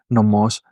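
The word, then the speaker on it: νομός: the other word is nomos nomos written exactly as normos only at the end the stress is on the last syllable nomos is an administrative district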